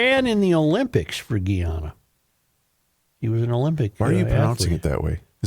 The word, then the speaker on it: Guyana: No, this is Guyana. This is Different. This is a different Anna.